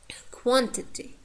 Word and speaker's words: quantity: For example, quantity, quantity. These, we have a short vowel in the penultimate syllable, t. Quantity, quantity. Cinema, cinema. You see, n. The second syllable, penultimate syllable, is weak. Therefore, the first syllable takes the stress.